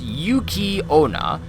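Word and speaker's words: Yuki-onna: Pronounced Yuki Onna, yokai women enveloped in a haze of icy cold air, also treated as incarnations of snow.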